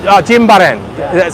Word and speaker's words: Jimbaran: So Jimbaran.